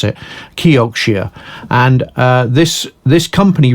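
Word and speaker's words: Kioxia: toshiba memory company uh became a company called kyokushia is how you pronounce it kyokushia and uh this this company really was brought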